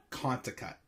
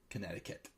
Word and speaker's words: Connecticut: in Hartford I'm sorry Connecticut as a young kid always said contact because I could never pronounce Connecticut but now of course at 29 years old I probably can pronounce my States Connecticut but anyways so we're